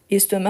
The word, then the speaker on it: estomac: a mal à l'estomac estomac on ne prononce pas le C à la fin ok donc il a